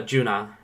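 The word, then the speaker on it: Geuna: J uh Sovereign uh junah um uh and that's spelled weird it is spelled uh g e u n a junah um and then there's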